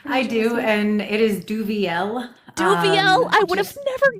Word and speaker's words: Duvieilh: How do you pronounce it? I do, and it is Duvieilh.